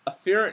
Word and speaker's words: afferent: have some neurons the afferent neurons or I like to say AER to emphasize the a that are going to